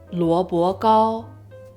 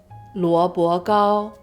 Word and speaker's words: 萝卜糕: In Mandarin, it's pronounced luo bo gao, luo bo gao.